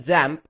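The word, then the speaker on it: XAMPP: You can also call it ZAMP and that's how it's supposed to be pronounced. However, I'll just refer to it as examp.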